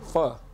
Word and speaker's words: pho: Pho. Pho? It's pronounced pho. It's pho. It's spelled pho, but it's pronounced for pho.